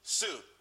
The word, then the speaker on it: Tsu: everyone could be happy Sue TSU it's pronounced Sue though that's that's a website.